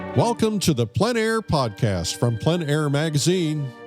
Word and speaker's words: plein air: The French pronounce it plein air. Others pronounce it plein air.